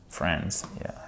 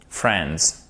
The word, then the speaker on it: Friends: Friends, yeah. On ne prononce pas le I évidemment, d'accord? Friends.